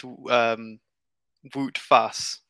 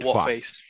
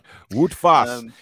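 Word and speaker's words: Wout Faes: The so last so Google name, Translate says it's pronounced Wout Fass, not Wout Face. Wout Fass.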